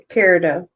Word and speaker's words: peridot: Peridot.